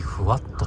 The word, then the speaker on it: 風W: 風にダブルでふわっとって読ませるってとこがすごいね。